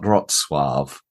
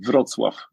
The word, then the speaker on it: Wrocław: to be speaking about, Wrocław? Yeah, it's very, very close. My pronunciation of my surname was actually perfect. For the city, yes, almost good also. I would say Wrocław with very strong V, Wrocław.